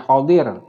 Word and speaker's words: Khidhir: kemudian menurut Ibnu Abbas dia adalah Al khibir yang membacanya khodir nah kemudian tiba-tiba itu